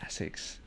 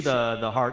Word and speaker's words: Asics: Asics. Yeah, I say Asics. Yeah. Because we do Asics. the long A, Asics. We say Asics.